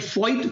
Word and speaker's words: Voith: और एक चीज और, मैंने एक फॉइट पेपर दिया था जिसकी स्पेलिंग तो है VOITH।